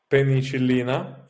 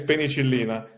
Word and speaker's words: penicillin: So when we discover penicillina, for example, can you say that again? The first antibodies we discover, in Italian is penicillina. Oh, penicillin is how we pronounce it here.